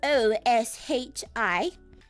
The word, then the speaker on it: oshi: This word is spelled O-S-H-I-S.